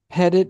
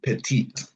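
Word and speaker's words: Pettitte: Is it Pettit? Is that how you pronounce it? It's actually Petit. Petit.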